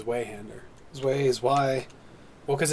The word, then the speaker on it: Zweihander: Zwei-E, but it's Zwei, E-I, Zwei. Why does it even matter? Because. It's a big, hideous sword with sharp edge and point. Zweihander!